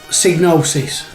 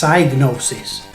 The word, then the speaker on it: Psygnosis: anyway it is so psygnosis that is how i would say it that's how i've always said it and it was only recently like i said i've never really pronounced the other way which is diagnosis now diagnosis probably would make sense if you split it psy the sci psycho and you know i believe gnosis with silent g is another word meaning something else so in a way